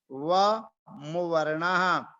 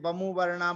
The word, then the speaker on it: व मुवर्ण: इसका उच्चारण ध्यान से करना है, नहीं तो इसका उच्चारण बहुत से लोग, बहुत से पाठक गण बोलते हैं बमु वर्णा बमु वर्णा। तो बमु वर्णा नहीं बोलना है, व मुवर्ण।